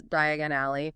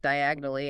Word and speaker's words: Diagon Alley: He coughs on the ash, mispronounces Diagon Alley, maybe says something like diagonally, and ends up completely lost.